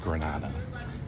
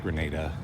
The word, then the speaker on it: Grenada: At some point in this video, I'm definitely going to up and call this country Granada. I know that it's pronounced Grenada.